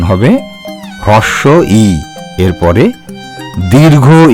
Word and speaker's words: হ্রস্ব ই: তোমরা এই বর্ণটিকে বলবে হ্রস্ব ই, মনে থাকবে তো? আর অন্য কোনো উচ্চারণ শুনলে বলবে সেই উচ্চারণটি ভুল। এর সঠিক উচ্চারণ হবে হ্রস্ব ই।